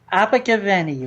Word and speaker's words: Abergavenny: Abergavenny, Rob.